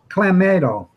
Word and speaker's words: Clamato: Clamato. It's Yeah, clam that's juice the- and tomato.